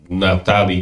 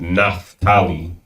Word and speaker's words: Naphtali: Whenever you see the PH in English, it's usually like they want to pronounce it Naphtali. In the Hebrew, it's a pa.